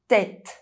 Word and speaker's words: tête: arrêt stop forêt forest It’s pronounced [ɛ] if followed by a pronounced consonant in the same syllable: tête head arête fish bone It’s is pronounced [e]